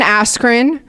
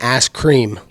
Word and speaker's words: Askren: that fight going oh you said his name backwards you said it wrong it's been a scream is that really it